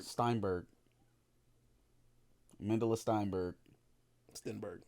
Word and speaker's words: Stenberg: with her in Amandla Steinberg. Sternberg. What? What? Sternberg. Stenberg. Steinberg. Amandla Steinberg. Stenberg. I've never heard Stein pronounced as Sten, but there's no there's no I.